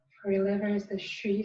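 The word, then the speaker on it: xū: For your liver is the Shi sound. In Chinese it's spelled X-U, but in the West we have a S-H-U sound. Just like you want to tell a child to be quiet.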